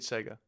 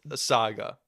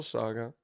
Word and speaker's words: saga: up what do you call that the complete Sega the complete Sega huh aa oh you say